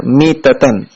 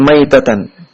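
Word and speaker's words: مِيتَة: Jadi cara bacanya mitatan. Ya, di hadis cara bacanya mitatan, bukan maitatan.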